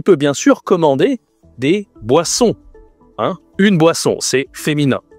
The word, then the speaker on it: boisson: Et tu peux bien sûr commander des boissons, hein. Une boisson, c'est féminin. Attention ici la prononciation de boisson. Une boisson avec le nez on boisson. Mais tu peux aussi commander des desserts, hein.